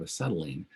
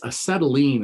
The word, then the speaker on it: acetylene: all right questions about forming an anion out of acetylene and using it as a nucleophile to attack